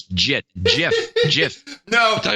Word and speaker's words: Git: It's a G. It's a soft G. It's always JIT.